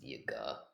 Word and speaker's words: Yaga: It's pronounced Yaga, but whatever.